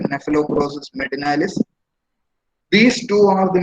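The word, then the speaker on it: Cnaphalocrocis: The leaf folder, the scientific name is Nephelocrosis medinalis. Leaf folder, Nephelocrosis medinalis. C is silent over here. Nephelocrosis medinalis.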